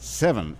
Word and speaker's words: Sevin: Zach Smith is here with me today, and so is Sevan, otherwise pronounced Sevin, S-E-V-I-N.